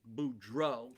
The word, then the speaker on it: Beaudreault: Beaudreault, and the LT is silent, so I don't know why we have that, but there it is.